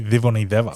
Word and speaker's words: Civoniceva: So in Fijian, the letter C is pronounced like a TH. Yes. So it's like a the. Yep. So it's really Civoniceva.